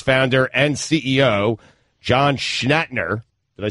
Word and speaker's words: Schnatter: NFL sponsor Papa John's apologized Tuesday, 2 weeks after its founder and CEO, John Schnatter. Did I say that right? I can't say his name. Is it William Shatner? Schnatter.